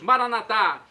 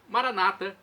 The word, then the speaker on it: Maranata: E agora eu clamo do aramaico dialeto de Jesus, Maranatá, ou Maranata, como dizem nossos irmãos separados, os evangélicos ou protestantes, não importa. A pronúncia, o significado é o mesmo.